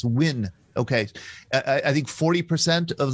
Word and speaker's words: Nguyen: I always say Nguyen. Nguyen. Yeah. Nguyen. Without the N, Nguyen. Right? And there's I think the dialects are different, north and south. In south, it's Nguyen.